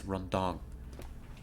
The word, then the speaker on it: rendang: It's rendang. It's spelled, for those who are interested, Rendang.